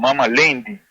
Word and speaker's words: Lendi: Estoy explicando que en la pronunciación correcta, en idioma garífuna del día lunes es Lendi, lleva un diptongo entre esta palabra, sí, lleva un diptongo que es ei, hay diptongos en idioma garífuna.